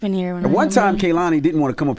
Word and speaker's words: Kehlani: It's Kehlani.